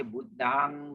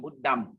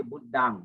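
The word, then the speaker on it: Buddhaṃ: And then M and N is always pronounced as NG in English, as in sing, S-I-N-G, sing. So if we say Buddhang, not Buddham, okay. Our purpose, we say Buddhang, Buddhang.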